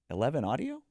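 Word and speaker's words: XI Audio: me so puzzled and he says 11 audio Yeah so so it's an XI it's Roman numerals apparently and yeah so so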